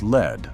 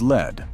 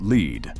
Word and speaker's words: Lead: It is not lead, like the metal. It is Lead, pronounced lead, and named for a vein of ore.